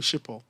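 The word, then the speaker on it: Schiphol: they still prefer to use they go through shippo yeah it's how it's pronounced it was so difficult for other people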